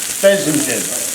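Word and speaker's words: fesenjan: in with those onions the name of the dish is pronounced this Porsche pheasant gin that's what the computer said back to me because I had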